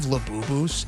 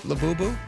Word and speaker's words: Labubu: Have you guys heard of Labubus? Did you know? I feel stupid even saying that name. Am I saying that right? Labubu? Yes, you're saying it right.